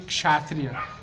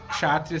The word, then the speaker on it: Kshatriya: Dessa forma ele se desenvolve muito e chega então a um nível que na Índia é chamado de Kshatriya. Kshatriya se escreve com K, ok?